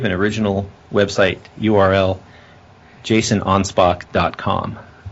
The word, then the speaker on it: Anspach: c so it's pronounced onpo just like you spelled it but then it's German so they got to change the O's into A's and the K is into ch's you know how it